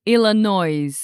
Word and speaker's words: Illinois: So now we have Illinois with a silent s. Don't say Illinois. It's Illinois.